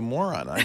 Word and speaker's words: Morrone: You know, you can correct her pronunciation of Moroni. Yes. We'll work on that later. I would like to because it calls you a moron. I think that's not nice.